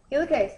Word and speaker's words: helicase: Helicase. Hilicase. Good. Hilicase or helicase. I've always pronounced it hilicase, but I've heard it pronounced hellase, too.